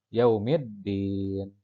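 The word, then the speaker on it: يوم الدين: Disini yang jadi contoh alif lam menghadapi huruf Al Syamsiah yaitu dalam maka dibacanya melebur yaumid diin kemudian contoh yang kedua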